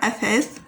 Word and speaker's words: أثاث: And you press your tongue out of your mouth while you pronounce the second letter, أثاث, like that.